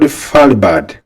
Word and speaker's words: Svalbard: It is called Falbad. The word starts with an S but the S is silent.